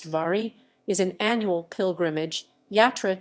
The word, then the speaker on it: Wari: wary canned harper wary or wary pronounced vari is an annual pilgrimage